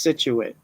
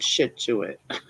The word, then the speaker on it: Scituate: Scituate looks like shit suet. And it's spelled sit and it said it's pronounced Scituate, not shit to it.